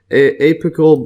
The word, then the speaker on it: apical: So MES note, apical bud. Let's see the pronunciation here.